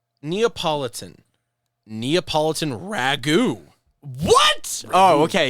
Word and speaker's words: Neapolitan: on am I also saying it right is neopolitan the correct word it is it is but you know now I'm thinking about it I mean lemon could be all right Neapolitan Neapolitan Ragu what oh okay yeah refering to